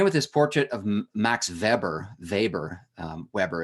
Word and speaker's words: Weber: this portrait of Max Weber Weber Weber it looks like Weber but in German it would pronounce Weber he founded the discipline